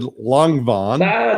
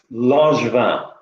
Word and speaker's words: Langevin: his name is Langevin. Did I get it right? Okay, tell us the way it should be. It's a French name, and it's pronounced Langevin. Langevin.